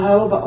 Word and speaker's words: jojoba: there in the blue i know that it doesn't sound like the way it's spelled yeah that's true it doesn't it's spelled j-o-j-o-b-a it's called a hobo well jojoba oil is